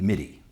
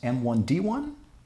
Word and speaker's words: MIDI: instrument digital interface uh I have heard it pronounced M1 D1 once in college at Tech Tech University and um also other people in Texas sometimes say my die as well which is which is interesting I I think it's